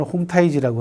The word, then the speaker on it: 홍타이지: 청나라 건국에 가장 큰 기틀을 놓은 사람이 누구냐 그러면 황태극이라는 사람입니다. 중국 발음으로는 홍타이지라고 하는데요.